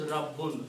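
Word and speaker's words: رَبٌّ: And if we combine these three letters in this format, then we put a shadda on the second one and a fatha on the first one. This word is pronounced as Rabbun.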